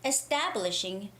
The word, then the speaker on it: establishing: okay it's your name establishing the syllable stress of the stress goes on to establishing establishing establishing okay so ta has the stress